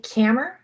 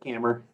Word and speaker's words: Kammer: Kammer. Here. Did I say it right? Yep, just like a hammer, but cammer.